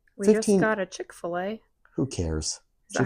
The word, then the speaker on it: Chick-fil-A: You talking about like like we just got a Chick-fil-A. Who cares? Is that how you say it? Chickfil-A.